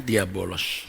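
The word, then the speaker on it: διάβολος: Oh iya bolos Hai ini membacanya diabolos Hai Yesus kalau menyebut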